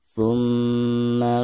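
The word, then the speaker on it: ثُمَّ: Maka cara membacanya itu harus ditekankan dari bacaan thu ke ma sekaligus digunakan ya.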